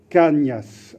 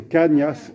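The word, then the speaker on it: Cañas: espagnole et que donc il faut le preuve prononcé comme cela se doit c'est vicente cas niasse avec un inutile tu sur le n donc c'est qu'à niasse et paca n'a un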